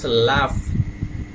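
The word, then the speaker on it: laugh: তো পরের খাবার লাঞ্চ তো পরের খাবার পরে লাফ লাভ এখানে মানে এ ইউ এটার এফ এর মত উচ্চারণ হচ্ছে তাই লাফ লাভ হচ্ছে এভাবে উচ্চারণটা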